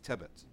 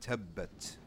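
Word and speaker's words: تبت: So likewise, it means that you doubled the pronunciation of that letter. You hold the letter down for 2 beats. So in this case, you have tebet. Right, this word right here is tebet. Right, will be incorrect. The right way to say it is tebbet.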